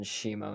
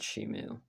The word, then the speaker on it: Shimo: I figured out the correct pronunciation, Shimo, not Shimu, by the way.